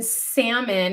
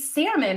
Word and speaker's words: salmon: appreciate it camry says when people pronounce the l in salmon it makes me die laughing that's how you know that they don't really eat salmon right i feel like